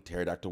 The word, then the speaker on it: pterodactyl: If the word muggle is in the English lexicon, it's in the dictionary, and we're still spelling pterodactyl with a P, come on, guys.